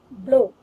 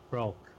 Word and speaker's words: bloke: This word, it's O, long O, so it should be pronounced as bloke. Broke.